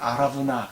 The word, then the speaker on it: 아라우나: 아라우나, 히브리어 발음으로는 아라브나 그렇게 읽는데 그런 이름으로 소개가 됩니다.